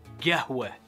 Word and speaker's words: gahwa: one is arabic coffee or qahwa or gahwa that's how we say it so say it the